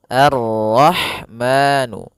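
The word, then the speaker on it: الرَّحْمَٰنُ: Sehingga di sini a langsung ke ro arrahmanu arro rnya tebal.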